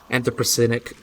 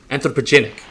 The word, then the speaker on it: anthropogenic: these issues like anti-percentage antipercentic climate change and things like that it's gonna be an issue how did i say it right it's um anthropogenic yes that's right but look at these